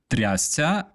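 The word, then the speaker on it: трясця: This is pronounced трясся.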